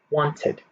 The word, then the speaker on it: wanted: okay so for the first word wanted wanted two syllables the second word decided